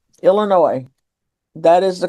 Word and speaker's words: Illinois: Illinois. That is the correct pronunciation. The S on Illinois is silent.